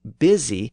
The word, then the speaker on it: busy: The word busy reflects a blend of these dialects. It has the pronunciation that was common in the north and east of England, where the Y sound merged with the I sound. That's why the vowel has a short I sound today.